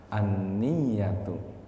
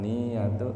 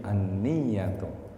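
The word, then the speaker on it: النية: enam yang pertama niat niat itu dibacanya bitasdidil ya dengan baca tasdid huruf yanya anniyatu Bukan niyatu tapi anniyatu min Nawa diambil kata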